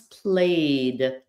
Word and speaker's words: played: So there is a D sound. The word play becomes played.